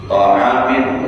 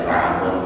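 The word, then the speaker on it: طعامٌ: Ta'amin boleh, bacanya ta'amun boleh, yuqimu bihi sulbahu wa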